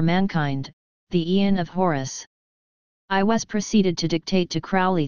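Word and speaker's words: Aiwass: a praetor human intelligence calling itself I was or I was, pronounced I was.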